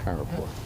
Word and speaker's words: Kharagpur: Kharagpur.